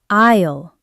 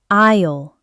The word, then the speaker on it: aisle: Liam, it's isle pronounced isle, not smile. The s is silent.